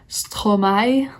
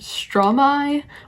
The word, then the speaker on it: Stromae: i do know that his name is pronounced in various ways um it can be pronounced stromai like fully french it could be pronounced stromai which would be like half english half french and the reason